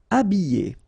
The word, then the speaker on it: habiller: Habiller. Okay, remember E, double L, and then a vowel, Y. Habiller. H is not pronounced.